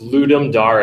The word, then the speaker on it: Ludum Dare: I did have to look up its correctly pronounced ludum dare a I wanted to make